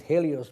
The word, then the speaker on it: Helios: We call it Helios, but the H is silent, who is the sun god who rides in his chariot.